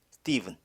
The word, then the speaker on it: Stephen: 자, 이 ph는 일반적으로 v로 발음합니다. 스티븐, 동격이죠.